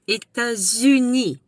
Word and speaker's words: États-Unis: And the S, you pronounce the S because it's followed by a vowel. États-Unis, So, she was born in St.